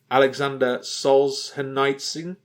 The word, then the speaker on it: Solzhenitsyn: Alexander Solzhenitsyn. I'm pretty sure that's how it's pronounced.